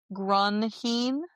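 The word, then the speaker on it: Grunheid: Grunheen. Heed like H E I D.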